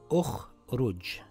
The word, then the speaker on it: ٱخْرُجْ: The third letter has a dhamma. So we place a dhamma on Hamzatul Wasl. This reads Un-Dhur. And this reads Ukhruj.